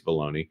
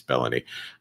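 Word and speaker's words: Belloni: Matt bellony or baloney depending on how you pronounce it I think it's baloney I'm kidding it's bellony he is uh from Puck news and he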